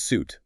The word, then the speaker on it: suit: It's pronounced suit with a long ooh sound like boot.